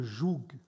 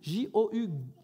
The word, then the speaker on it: joug: de porter le jou c'est pas un mot où il manque des lettres J ça s'écrit vraiment J il y a des jeunes qui disent j tu as mélangé les lettres avant de le dire ou il manque des trucs j o u g jou vous avez déjà vu